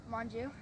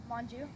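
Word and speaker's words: Monge: and how do you say your last name Manju and you could just look at me awful this don't worry but how do you son one more time your last name Manju and you're 11 years old and what grade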